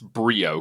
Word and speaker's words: Briaud: It's Brio, correct? that's correct.